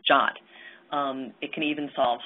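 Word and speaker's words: JWT: a new piece called Json web tokens pronounced jot um it can even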